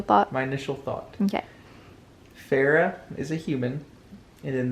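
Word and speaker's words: Feyre: And it just says, the 19-year-old huntress, Fair. Is that her? Do you want me to tell you how to say it? Farah.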